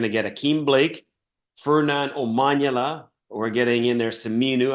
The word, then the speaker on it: Omanyala: I always say Omanyali, but Omanyala, as you're the pronunciation man.